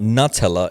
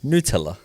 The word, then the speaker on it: Nutella: it's not Nutella, it's Nutella.